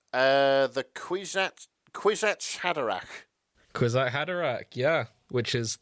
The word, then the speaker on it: Kwisatz Haderach: Why don't you try and pronounce that name? The Kwisatz Haderach.